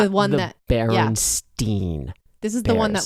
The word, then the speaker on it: Berenstain: like the one that baron steen this is the one that like blew up the mandela yes i feel like um it is spelled b-e-a-r-e-n-s-t-a-i-n not e-i-n and people swear it was berenstein bear so you can hear